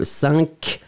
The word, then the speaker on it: cinq: First, the nasal is not the same, and then the cinq, you have this final k, but then of course when after that you combine it with another thing, the k won't be pronounced, d'accord? So you just rely on the nasal en un.